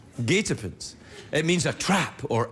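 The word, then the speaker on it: guetapens: year there that that's the winning word it's pronounced gatens gatens it means a trap or Ambush I thought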